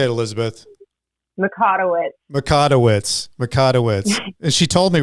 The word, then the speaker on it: Mikotowicz: Mikotowicz. And she told me right before I got on. Now I'm looking at it. I'm thinking, wait, what was that? Mikotowicz.